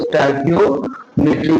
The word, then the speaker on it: stoichiometry: उसका प्रोनाउंसिएशन की बात करें तो स्टाइकियोमेट्री को हम पढ़ते हैं।